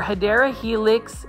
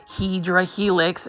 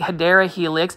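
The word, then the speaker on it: Hedera helix: HRA helix or hadera Helix is the correct way to say it for English ivy this is a ground cover and if you are new to my channel yes I do mispronounce hedra Helix um instead of saying hadera Helix because it was a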